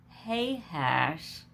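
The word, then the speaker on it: Tahash: bortiba gayhem hay hash and it is t-e-h-a-s-h but it is pronounced hey hash and mayaka and that ends chapter 22.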